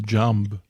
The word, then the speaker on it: jamb: up with the jamb think it may be the jamb I don't think you're supposed to pronounce the b yeah and I like